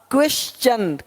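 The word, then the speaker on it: question: यदि किसी शब्द के अंत में एस के आगे टी आई ओ एन हो तो टी के आगे यू आर ई आए तो टी का उच्चारण चा होता है।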